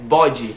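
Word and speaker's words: body: A pessoa vê escrito, ela pensa, essa palavra aí eu pronuncio bode, né? Bode. Mas, cara, não é assim.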